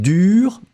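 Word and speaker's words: dure: a in the end pronunciation will be exactly exactly the same so whether it's the masculine dur feminine form dur same pronunciation what is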